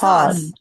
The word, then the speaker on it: horse: It's horse. It's a horse. Horse. R is silent.